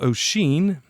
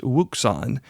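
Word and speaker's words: Wouxun: $120 handy-talkie from a company called Oshin, which you've probably never heard of because you think it may be pronounced Wuxon.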